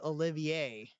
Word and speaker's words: Olivier: transfer in from Louisiana got name spelled like Oliver but it is Olivier Hill looks back to